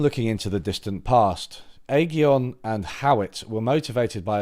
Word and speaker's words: Aghion: Rather than looking into the distant past, Aghion and Howitt were motivated by observing modern-day sustained innovation-led growth in advanced economies. Aghion... Right, okay. Aghion. Aghion. Okay, not Aghion, Aghion.